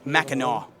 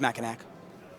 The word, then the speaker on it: Mackinac: Rob says it's pronounced Mackinac Island. Okay, fair enough. I thought it was Mackinac.